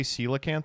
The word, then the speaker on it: coelacanth: Why do you say coelacanth wrong? You're gonna hate this. That is how you say it.